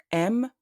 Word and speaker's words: aime: In the word aime, A and I produce the sound E, which is similar to the sound of the E accent grave.